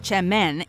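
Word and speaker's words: çemen: wow that's actually worse spelled with a c semen pronounced chem men is in reality a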